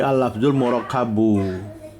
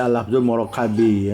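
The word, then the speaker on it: اللفظُ المركبُ: Jadi al-lafzul murakabu. Enggak boleh al-lafzul murakabi ya, karena al-murakabu naat bagi lafaz ikut lafaz dia.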